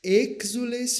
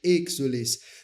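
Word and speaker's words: exsules: Ad te clamamus exules filieve. O acento está sobre o E, de exules.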